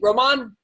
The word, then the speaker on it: Roman: say your last name Roman Roman well I mean there's an accent on the a but yeah I just say Roman Empire people get it a Roman Candle nice nice man so